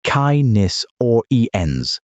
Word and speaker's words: Canis oriens: Canis oriens, pronounced Kai-nis or ens, Eastern Canid.